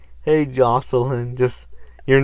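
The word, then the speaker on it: Jocelynn: we're broke dang it your real name is jose line no well that's very much not how it's pronounced oh jocelyn j o c e l y n n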